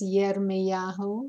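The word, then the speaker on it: ירמיהו: The correct way to say his name is Yirmeyahu. Remember, there's no J in Hebrew.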